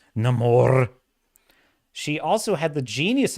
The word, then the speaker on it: Namor: the one that uh corrected the pronunciation of Namor to Namor it's Namor she also had the